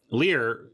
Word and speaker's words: Lier: It is pronounced Lear, though, right? Like King Lear.